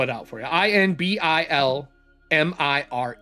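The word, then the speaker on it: Inbilmire: would like to ask our good friend uh Inbalmar? Oh, yes. Uh uh in Balmir. I N B I L. Imbilmir. And he will spell it out for you. I N B I L M I R E.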